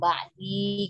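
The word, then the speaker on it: بعدي: Jadi dibacanya panjang ba'di.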